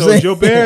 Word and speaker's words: Joubert: it's your bear like well my daddy say so i said i'm saying what my daddy said yeah joe bear is not incorrect pronunciation got you my daddy